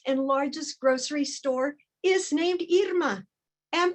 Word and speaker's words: Irma: When people see the spelling of my name, many think Irma, and that is one pronunciation of this name. But the name my parents gave me is Irma.